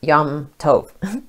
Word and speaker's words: Yom Tov: It's pronounced Yom Tov.